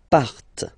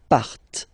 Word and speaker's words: partent: last persons, il, elle, partent, remember, classic ending, E, N, T, but then you don't pronounce them, partent, okay, so let's repeat